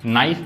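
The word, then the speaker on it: knife: नाइफ यहां पे के साइलेंट है।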